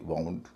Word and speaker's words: wound: WOUND का एक उच्चारण वुंड भी होता है। मैंने कई लोगों को इसे उंड कहते हुए सुना है, लेकिन इसका सही उच्चारण उंड नहीं है, वुंड है। यानी यहाँ W साइलेंट नहीं है।